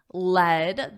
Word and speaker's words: led: I always lead presentations on on lead on the metal on lead, but yesterday my colleague LED the past simple of the verb lead is pronounced like the metal lead.